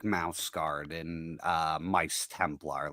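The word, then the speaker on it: Maus: Um oh mouse. It's called mouse but it's spelled m a u s.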